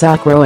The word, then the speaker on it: okra: of the world, and while it is known as okra in the UK, the USA, and the Philippines, it is pronounced as okro in Nigeria and on the Caribbean.